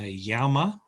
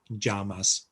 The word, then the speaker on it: llama: mine from uh ecuador here we'd call it a llama in madrid it would be a yama in southern spain the balearics it would be a which is why they say uh majorca and not mallorca um in latin america where these creatures live um llamas that is they're also called jamas so a jet or